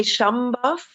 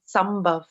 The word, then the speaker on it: Sambhav: Now, I'm asking you, please, can you pronounce the name of your foundation? Yeah, here in Europe, it's easier to say Sambhav, but the locals, they say Sambhav.